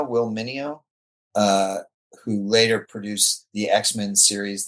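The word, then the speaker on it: Meugniot: And I I have a fairly clear it was Mark Evanir and I think Will it's pronounced Mo will Mo uh who later produced the X-Men series that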